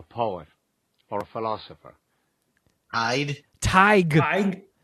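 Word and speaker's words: Tadhg: my stupid ass but here is the proper pronunciation of t-a-d-h-g hi Irish name meaning a power or a philosopher I'd tiger like t-y-g that was on my uh my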